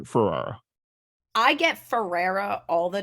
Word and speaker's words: Ferrara: And everybody Yeah, consensus was like Ferrara. I get Ferrara all the time, or like I'm like just Ferrari with an A, like Yeah, it's not hard.